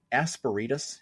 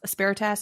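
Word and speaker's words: Asperitas: Aspiritus is how I pronounce it. All right. And put quick pause. I say aspiritus. Aspiritas. Asparitus. Makes me think of asparagus.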